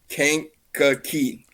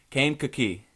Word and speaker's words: Kankakee: It's Kankakee. Kankakee. Kankakee. Okay. So So Kankakee, Illinois.